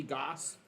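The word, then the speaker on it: Gose: G-O-S-E, Goose.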